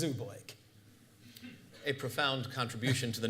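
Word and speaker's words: Zubulake: the United States involving Laura Zuba lake or Zuba Lackey depending on how people pronounced it till they finally learned when she went out on the lecture circuit herself that it was Oobleck a profound contribution to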